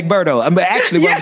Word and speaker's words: Egberto: From Mississippi, we say Egberto.